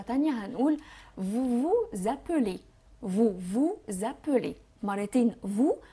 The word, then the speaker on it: vous appelez: هنقول vous vous appelez، vous vous appelez مرتين vous. وخلوا بالكم هنعمل الوصلة اللي هي ما بين الاس والا، ما بين الكونسون والفويل. هنقول za، هتسمعوا حرف زد بس طبعا مش هتكتبوا حرف زد.